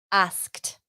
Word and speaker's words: asked: Tú lo pronuncias así. Asked.